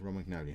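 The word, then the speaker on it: Romagnoli: R mcnell is injured um R magnoli yeah ROM magnoli that's how you say it so we actually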